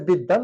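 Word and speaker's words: বিদ্বান: ছাত্র একটু মাথায় রাখবো আর এখানে হচ্ছে বিদান দ ফালা থাকা দ এর সাথে বফালা থাকার কারণে এখানে দুটো দ উচ্চারিত হয়েছে বিদান তো এই ছিল আজকের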